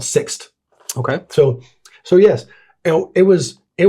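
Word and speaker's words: Sixt: first time ever that's rhymes with fixed it's called six okay so so yes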